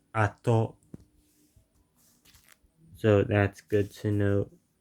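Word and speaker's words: 後: I know it's Go when used as part of compounds, and because compounds tend to use the Chinese dialect pronunciation. Okay, so when not used as part of a compound with other kanji in the same word, it's apparently called ato.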